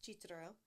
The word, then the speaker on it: Cicero: So basically, my original last name is Cicero, pronounced Cicero.